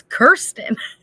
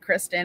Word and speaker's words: Kirsten: Okay, Daryl, I was saying it wrong even because every time I said Kristen, and then I was saying Kirsten, and it's Kirsten.